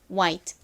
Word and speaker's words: white: 여기서 wh는 히 소리가 아니라 w 소리 우 소리로 쓰였습니다. 그래서 정확한 발음은 화이트가 아니라 와이트라는 점 알아두세요. 자, 흰색을 의미하는 발음 연습해 볼게요. 따라해 보세요. White White 여기서 잠시 딱